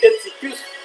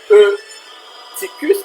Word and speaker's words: Eutychus: Le même c'est l'apôtre Paul qui a levé, c'est Éticus. Dans la langue banoise, on dit Étus. Là, on dit Éticus, mais en français, on est capable de dire Eutyche. Eutychus, qui s'écrit E-U-T-Y-C-U-S.